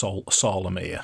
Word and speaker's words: Solamnia: Solamia, it's SARL. SARL. AMIR, but it's pronounced Solamia.